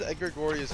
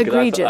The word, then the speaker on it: egregious: how do you spell it? I'm not really sure. Egregorious. Outstandingly bad, shocking. Egregious. Okay, egregious. I thought maybe you were trying to say egregious.